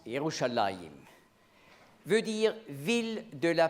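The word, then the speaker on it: ירושלים: Le nom de la ville en hébreu prononce Youchallahim veut dire ville de la paix mais on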